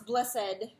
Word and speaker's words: blessed: um we don't pronounce blessed like we don't read that set of letters aloud with the with like the with the second syllable emphasized there anymore but if you are